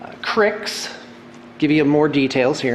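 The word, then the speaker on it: Cryx: In fact, let me give you the proper pronouncements. It's Cygnar, Cawdor, Crix, give you more details here in a minute, Crix, Menoth.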